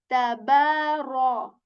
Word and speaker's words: تبارك: And how we articulated this letter is that whenever you put the tip of your tongue at the back of your upper teeth, very lightly kind of, and that is how you say ta.